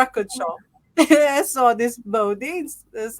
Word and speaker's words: Bodines: yeah, even though it's spelled differently, I mean, you just pronounce it the same way, the Bodines and then Bodines as well.